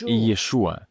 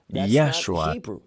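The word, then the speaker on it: ישוע: говорит текст на ричес ему имя иешуа в тексте стоит греческое произношение но важно произносить пишу это что имеет значение не я шел это вообще не иврит а англицизмы взяли еврейское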